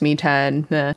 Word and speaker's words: 3tene: so the site that i use is called me 10 it's spelled 310 apparently it's pronounced me 10 it's a program that you can download from